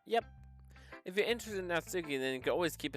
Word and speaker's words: Natsuki: soon by the way i believe natsuki is pronounced not key natsuki natsuki that's suki i'm still going to